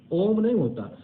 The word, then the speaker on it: ॐ: यह सच है कि ॐ का उच्चारण ओम ओम का उच्चारण इस